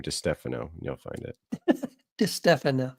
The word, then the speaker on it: DiStefano: and then put in my last name, DiStefano, and you'll find it. DiStefano. Yes. DiStefano. See, if you keep mispronouncing it, then they're going to mispronounce it as well.